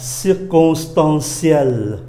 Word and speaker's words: circonstanciel: La circonstance là một hoàn cảnh, adjective của nó là circonstanciel, đọc là ciel, đọc là ciel.